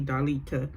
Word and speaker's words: Darlita: I said her name wrong in the first recap, but it's actually Darlita.